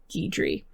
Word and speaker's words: Guidry: name's guy dre or guidry i believe it's pronounced it's spelt guy dre in english but it's a french name i believe from my research it is pronounced gheedri it looks like you